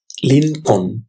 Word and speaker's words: Lincoln: Abraham Lincoln. L-I-N, Lin. Con, C-O-L-N, Con. এখানে এল উচ্চারণ হবে না লিনকন লিনকন এব্রাহাম লিনকন ভেঙে ভেঙে